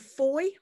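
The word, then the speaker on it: Fowey: 600 students in the town of foye rhymes with boys so you know john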